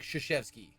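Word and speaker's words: Krzyzewski: blah blah blah and it's pronounced like shishevsky yeah or something like that so i'm wondering if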